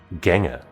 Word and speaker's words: Gengar: Oh, this one with a guy and his Gengar some ghost book Gengha. Huh. Most people wouldn't understand that that's how it's pronounced.